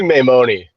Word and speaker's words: Maimone: Maimone. You say it. You say it. I say Maimone, all long vowels, but that's, anywhere in the neighborhood is fine.